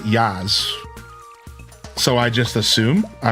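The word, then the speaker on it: Jas: All I know is I met somebody in my real life that their name was J A S and they pronounced it Yaz.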